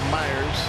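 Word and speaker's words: Mayers: runner at second mike myers looks like mayors but he pronounces it myers 71 appearances on the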